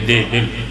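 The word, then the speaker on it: دعبل: بسم اللہ بسم اللہ دال دے تلے زیر بے دے تلے زیر دیبل ایران دے شہنشاہ والی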